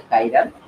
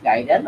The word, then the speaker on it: chiral: Also, some might pronounce it as the chiral. So both pronunciation is correct. You may uh, pronounce it as chiral or chiral.